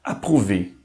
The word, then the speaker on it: approuver: O nosso quarto grupo das vogais compostas, OU, pronuncia-se como um U, bem simples e direto, U. Por exemplo, na palavra approuver, que significa aprovar.